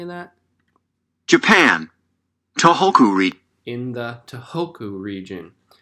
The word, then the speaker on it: Tohoku: Toko region, but it hadn't caused any damage. Suddenly, seismographs began recording powerful new vibrations. It was another earthquake. Let's see how I pronounce those names. Japan, Tohoku region. Tohoku.